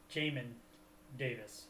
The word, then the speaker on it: Jamin Davis: Jamin Davis is how it's pronounced.